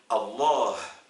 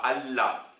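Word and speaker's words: الله: Prenons le mot Dieu, par exemple, en arabe, c'est Allah. Et vous savez que un francophone qui a du mal à prononcer le ha, il ne pourra pas dire Allah, du coup il dira Allah.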